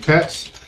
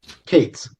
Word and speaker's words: Cates: Katz. You pronounce it Cates? Cates. Cates.